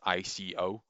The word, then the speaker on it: ICO: game of Ico, as ICO. And you can say Ico or Ico. I've heard it pronounced in multiple different ways, and it's a Japanese game, and it's been pronounced in multiple different ways.